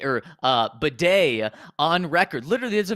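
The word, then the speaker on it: Badie: we we have uh Tyler b or uh Beday on record literally there's a video of him from last year saying oh yeah my name's pronounced uh uh batty because some people were calling him baddy and he was like no it's batty well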